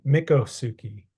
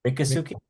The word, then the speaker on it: Miccosukee: uh and I believe I hope I'm pronouncing that right misuki right M mikasuki mikasuki mikasuki yeah mikasuki yeah yeah and we could both be butchering it I apologize you know but as we I kind of listen to a thing and I from what I heard it was like yeah misuki or mikasuki based on how the people in the videos were pronouncing it right so that's what